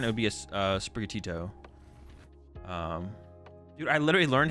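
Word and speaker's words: Sprigatito: knockout this turn it would be a a spatio um dude I literally learned how to say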